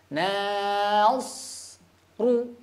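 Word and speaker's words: نَصْرُ: Na tipis, shad tebal, ro tebal.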